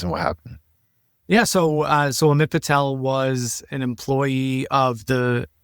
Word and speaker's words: Amit Patel: And so I wanted to start with the case of Amit Patel. Is that how you pronounce his name?